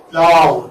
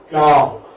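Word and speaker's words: plough: Plow. That's the one. Plow. See? Now G-H. G-H is silent. It doesn't have any existence here in the transcription or in the pronunciation of that. Plow. It's just plow.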